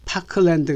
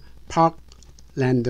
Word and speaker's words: Parkland: 따로 앞에는 자위 왔읍니다 그러므로 파크랜드 가 아니라 파악 랜드 라고 해야 됩니다 미국의 유타주의 그 주